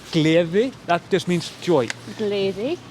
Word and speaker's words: gleði: So you say gleði, that just means joy.